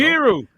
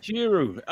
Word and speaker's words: Njiru: It's you combine the N to the J. You pretend you're gonna pronounce the N, but you don't actually pronounce it, and you go straight to the J. Njiru.